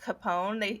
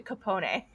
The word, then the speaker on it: Capone: And my mom said, instead of pronouncing it Capone, he changed it to Capone.